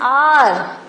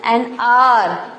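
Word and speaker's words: hour: An R. See, though it is starting with H, but pronunciation and R. H-O-U-R. And R.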